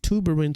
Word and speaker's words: tuberin: Pronounced tuberin, so you would know tuberous sclerosis C2.